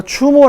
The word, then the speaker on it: 주몽: 이름의 다른 환자를 보면 추모 대황 이라고 해서 추모 라고도 발음 해요 그러면 주몽 이라고도 발음하고 추모 라고 썼다는 것은